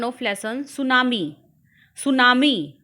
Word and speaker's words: tsunami: सुनामी बच्चों, यहाँ पर टी साइलेंट है। सुनामी pronunciation is tsunami.